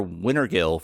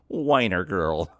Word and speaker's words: Wintergill: Kent thanks Senator Wintergill for his thoughts, but the candidate corrects him, saying that his name is actually pronounced Weiner Girl.